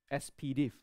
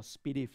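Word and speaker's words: S/PDIF: very common you have this is what we call the SPDIF or SPDIF. Some people pronounce it that way.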